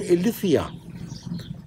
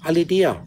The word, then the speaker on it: Aletheia: Also gematrisch die 9, ist TH ausgesprochen Aletheia. Ich sage Aledea, weil da steht A-L-E, ich spreche es, wie ich es ausspreche, Aledea.